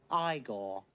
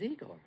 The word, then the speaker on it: Igor: with dim mech Egor now it's pronounced I go but they told me it was Eagle well they were wrong name weren't they and